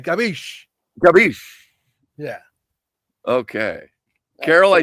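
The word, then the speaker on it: capisce: Gabish.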